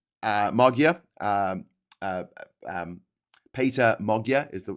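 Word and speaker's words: Péter Magyar: of people supported uh Mogia um uh um Peter Mogia is the correct way to pronounce his name according to the Googles.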